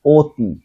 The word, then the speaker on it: অতি: একটি, এটা উচ্চারণ হবে কি একটি, ওঠে, এটা উচ্চারণ ওঠেই হবে, অতি, তাহলে এখানে অ উচ্চারণ হবে ওর মতো, অতি, হ্যাঁ, ওরা, এখানে ওরাই হবে, ঠিক আছে।